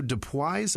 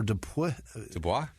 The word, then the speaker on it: Dubois: Jerry Hutton, Elizabeth White, Heather Shelley, Ann Nitch, Andrew Dubois or Dubois. There's no O. It's not Dubois.